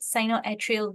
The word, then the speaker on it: sinoatrial: Yeah, that's how you pronounce it, sinoatrial valve.